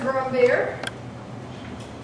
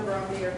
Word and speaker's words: Brombert: Lauren Brombeer, even though she spells it Brombert, she's like Stephen Colbert. That's the French pronunciation. So Lauren Brombeer.